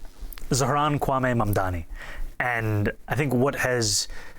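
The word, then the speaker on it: Zohran Kwame Mamdani: If you can respond to that and tell us how you say it, your full name, Zaharanwaame Mamdani.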